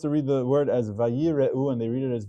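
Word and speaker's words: וַיִּירְאוּ: Example number 2, the word is vayire'u. 4 syllables.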